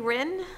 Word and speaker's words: Rin: Item number 13, Appeal 3843 Rin. Am I saying it right? Yep, Rin.